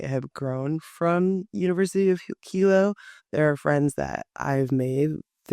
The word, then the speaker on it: Hilo: then going into your 2 years at Hawaii Hilo, I think it's pronounced.